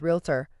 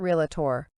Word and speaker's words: realtor: Also note that the correct pronunciation is realtor, not realtor.